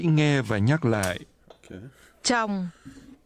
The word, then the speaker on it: chồng: Chồng, Chồng, chồng, chồng, chồng, chồng. This is pronounced with a falling tone.